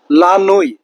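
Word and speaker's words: la nuit: লানুই দ নাইট অর্থাৎ লানুই বলতে রাতকে বোঝানো হচ্ছে এবং সর্বশেষ লোমিনই লোমিনুই বলতে মিডনাইটকে বোঝানো হচ্ছে।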